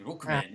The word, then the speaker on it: Rockman: Streaming Rookman X. And yes, I have to say it like that every time because that's how it's said in the Japanese commercials.